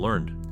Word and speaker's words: Learned: Boss after being encouraged by husband meanwhile Michael Learned who played the character Angela has a surname that is pronounced learned in Germany the show was translated